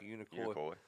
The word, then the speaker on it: Unicoi: Am I saying that right? Unicoi. That's the way you say it.